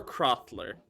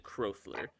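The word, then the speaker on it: Krothler: how it's spelled k-r-o-t-h-l-e-r so there's no w yeah it's crop it's more crosstaller than crothler i have a sub question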